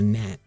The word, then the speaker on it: gnat: Also, I you know, I was looking at the word nat today, right? Why didn't Little Wayne say real G's move in silence like a gnat? Because a gnat is spelled G N A T and gnats actually move in silence regardless, right?